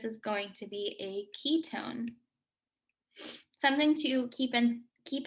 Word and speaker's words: ketone: when you're talking about ketones it's not k k-e-y tone it's k-e-t-o-n-e i don't really know why but there's no y in ketone even though it sounds like you're pronouncing a y ah that is the